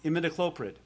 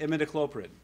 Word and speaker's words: imidacloprid: we're all of you specialists know how to pronounce. But for those of you that don't, imidacloprid. You all know that one? Everyone say imidacloprid.